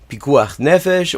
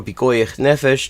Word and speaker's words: pikuach nefesh: There's an exception to literally all the commandments called pikuach nefesh or pikoich nefesh, depending on whether you're pronouncing it in Hebrew or pronouncing it in Yiddish.